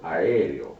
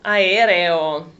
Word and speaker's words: aereo: Aereo. Aereo.